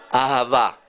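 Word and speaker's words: אהבה: Ahavá, ahavá.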